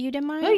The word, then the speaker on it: Udemy: just browsing on, and I might say the name wrongly, Udemy, Oh, Udemy, you said it.